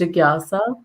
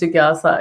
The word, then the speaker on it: Jigyasa: is Jigyasa. It's pretty easy. Like it's just Jigyasa.